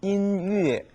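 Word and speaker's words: 音乐: 음악은 인위에 인위에라고 읽어 주는데 아이 악자가 즐거울라고 쓰일 경우에는 러콰일러라고 해서 콰일러라고 읽어집니다.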